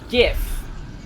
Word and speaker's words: GIF: It's pronounced GIF. I will face Jod and walk backwards into hell before I call it, because otherwise it's graphics interface format.